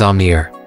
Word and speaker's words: Amir: a simple guide pronounce Amir as Amir emphasize the first syllable and follow it with a soft and sound and then ear similar to saying ear practice a few times